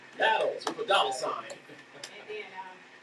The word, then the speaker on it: Nattles: Did I say it right? Or Nattles? No, it's Nattles.